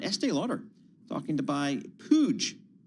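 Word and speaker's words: Puig: Uh Clara Lizaraga, Bloomberg Company's reporter on Estee Lauder talking to buy Pooge, that's the pronunciation, pooge to create a beauty giant.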